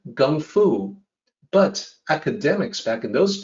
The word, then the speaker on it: gongfu: in chinese even today gongfu with a g sound the way child system depicted the g sound with the letter k with a notation that it be that should be pronounced unaspirated which means g so it really was supposed to sound like gun fu but academics back in